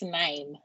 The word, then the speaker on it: KNIME: So how is this pronounced? Ekemit, so was it Ekemi? Kemi? Depend- So instead of knife, it's nine.